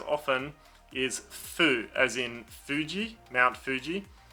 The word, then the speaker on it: Fuji: in fuji mount fuji because it has an f and it's very close to that f sound everyone just leaves it as foo and it's quite a strong sound in english in japanese it's it's a softer sound it's more of a it's like you make an f but then let the air go before you've closed it off so fujitan and that's